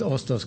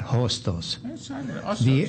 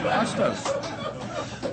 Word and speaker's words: Hostos: And let me just say an aside, one of my favorite institutions in the world is Hostos Community College, not Hostos. The age is silent. Hostos.